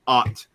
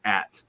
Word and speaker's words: twat: Yeah, when you read me say it, I don't pronounce it "ot." I pronounce it "at." It's right. The English way because I lived in England and I learned how to say insults.